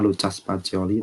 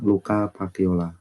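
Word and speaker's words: Luca Pacioli: Nah, tulisannya Lucas Pacioli tapi bacanya Luca Paciolo.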